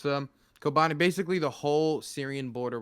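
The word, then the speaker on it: Kobani: but I'm looking at Kobane. Is that how it's pronounced? Yeah. Yeah. If you want to be, yeah, just say Kobane. Don't say Okay, anything else.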